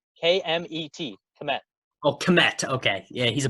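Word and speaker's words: Kmet: is how you say his name that's cool commit yep commit this his name km et commit commit okay yeah he's a bear now right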